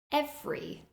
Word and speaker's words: every: Every. Instead of saying every, it's reduced. Every.